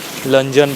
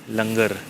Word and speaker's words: Lungern: 3 साल से मैं इसको लंजन बोल रहा हूँ, लुंगन बोल रहा हूँ, लेकिन अभी गूगल पे देखा तो पता पड़ा इसका प्रोनाउंसिएशन है लंगर, एन इज साइलेंट।